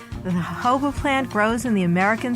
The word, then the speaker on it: jojoba: of the desert jojoba is spelled jo-jo ba but is pronounced according to its Spanish origins the hobo plant grows in the